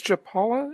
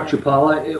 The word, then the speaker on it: Chapala: world really and and where is Joe Paulo is that how you pronounce it properly that's a great Chapala we're about 40 minutes